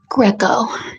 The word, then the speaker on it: Greco: Yes, Winnie is spelled like Winnie the Poo. Greco.